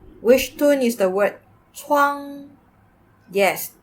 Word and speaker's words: 窗: 那是窗。那是窗 Which tone is the word 窗? Yes, that's the first tone. Flat and high.